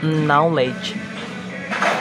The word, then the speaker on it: knowledge: Knowledge, knowledge. And the K not pronounced in the knowledge.